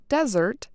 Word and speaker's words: Desert: Today, locals still say the word desert, similar to its French pronunciation, Desert.